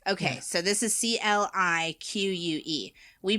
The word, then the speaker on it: clique: Oh, it's like fabrique. It's French. You know, it's very like, you know. There you go. So, clique. Okay, so you pronounce CLIQUE?